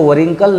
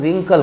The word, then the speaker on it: wrinkle: तो मैं बता रहा था कि जब भी W के बाद R आ जाए तो W अपना साउंड लूज़ कर देता है। जैसे आप देखिए WRINKLE, इसको वरिंकल नहीं पढ़ के हम लोग रिंकल पढ़ते हैं।